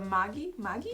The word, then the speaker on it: Maggi: like I think I'm going to start the Magi Magi yeah okay how do you pronounce it uh it's mgy it's the brand though but everybody just calls